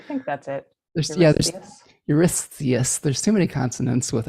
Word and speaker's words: Eurystheus: to a a king uh i can never pronounce the king's name it's it's that e name euryth eurythius there's yours oh yes yes i think that's it yeah there's eurystheus there's too many consonants with s's but basically